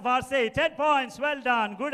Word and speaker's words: Versailles: VC is how it is pronounced. The Palace of Vce.